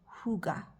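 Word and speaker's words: hygge: check this word okay it's spelled h y g g e but it said Huga um so I've just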